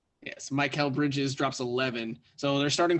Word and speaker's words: Mikal Bridges: It's Mikal Bridges in Phoenix, right? Yes, that is how you pronounce his name. Yes, Mikal Bridges drops 11.